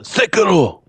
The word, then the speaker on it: Sekiro: It's pronounced Sekiro.